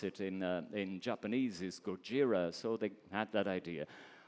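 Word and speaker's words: ゴジラ: product jira because Godzilla the way they they pronounce it in in Japanese is Gojira so they had that idea but the main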